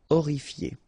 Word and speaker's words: horrifié: same thing here, you don't pronounce the H. Horrifié.